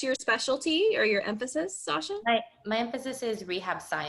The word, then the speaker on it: Sasha: What kind of, I think it's Sasha, am I pronouncing that right?